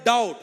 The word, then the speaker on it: doubt: look at the word doubt what is the spelling of the doubt oh it's quite easy not not the right question to be the future iitians d-o-u-b-t B is silent that b is believe